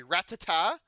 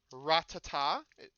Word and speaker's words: Rattata: It's NK Rattata like like a gun. No, no, no. Rattata.